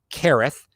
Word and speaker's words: Kereth: brought in kereth white it's kereth left the pronunciation from buffalo bills pr twitter thank you very much